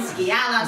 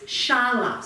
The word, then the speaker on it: Shala: He's been saying skiala skill la. And I've just been too embarrassed to have asked to say I didn't know how to say it. But Lynn asked it's shala. So think of shalom.